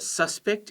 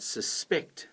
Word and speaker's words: suspect: You might be a suspect in a robbery, I hope not, but then the police might suspect that you did it. That's the verb, second syllable.